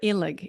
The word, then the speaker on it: Illig: today I have the opportunity to interview ilig and I'm pronouncing your last name correct yes that's it